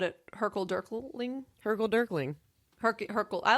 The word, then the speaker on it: hurkle durkling: So hurkle durkling, which is actually the way you say it.